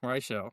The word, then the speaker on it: Rael: It's Relle. Rael. Oh, Rael. I apologize. Holy I pronounced your name wrong the whole time.